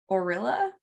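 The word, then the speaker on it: Orillia: finally in ontario near orella i think is how you say it like gorilla without the g so i have no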